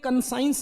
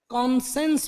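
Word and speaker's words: conscience: तो इसको लेकिन बोलते हैं, कंसाइंस नहीं बोलते हैं, कॉन्सेंस बोलते हैं। तो कॉन्सेंस, कंसाइंस, इसको स्पेलिंग कंसाइंस की है, बोलते कॉन्सेंस है।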